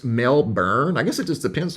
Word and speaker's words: Melbourne: um is is pronounced melburn Australia yeah no melburn in trisic factor is it Mel bur yes or no the r yep the r is silent thank you Mark I